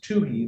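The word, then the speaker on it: Tohey: But uh the Michigan Supreme Court has been very clear in a case called People versus TUI that's spelled T O H E Y uh a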